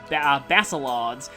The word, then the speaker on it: Basilard: In fact, people in the comments told me that I was pronouncing it wrong in that game. It's more like Basilard, so I still hope I'm not butchering it.